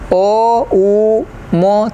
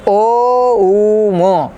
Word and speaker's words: ओम: नाभि सरण कैसे करेंगे ओ उ म तीन शब्द है नाभि